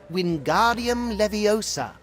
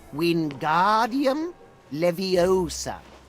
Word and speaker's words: Wingardium Leviosa: fly its incantation is wingardium leviosa just like this when guardium leviosa pay attention to your pronunciation it's wind guardium leviosa remember make the gar nice and long also the wrist movement